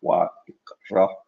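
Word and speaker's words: ויקרא: And the biblical Hebrew pronunciation would be something more like Wa ikra el Moshe, Wa yidaber Yahweh Elaw me'ohel mu'ed lemor, etc.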